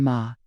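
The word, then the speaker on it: 間: Die Wahrheit ist das in Japan, das kulturelle Konzept ma, ausgesprochen ma, nicht die, dinj fjord,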